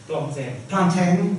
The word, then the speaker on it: Plantin: Christophe Plantin, I don't know how to pronounce his name. Plantin, thank you.